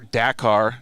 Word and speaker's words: Dakar: motorcycle champion he's a dakar champion uh or dakar is uh is how you say it right